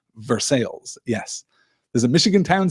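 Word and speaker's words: Versailles: it was I'll say Versa Kentucky which is pronounced verses yes there's a Michigan Town says Kate spelled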